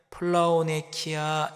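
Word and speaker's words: πλεονεξία: 헬라어로는 플라오네키아 이렇게 발음을 합니다.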